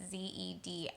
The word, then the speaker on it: Zedillo: And so President Ernesto Zedillo, Zedillo, I believe is how you say his last name. It's Zedillo.